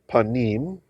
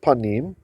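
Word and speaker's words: פנים: So this is from the word panim, which is how you say face.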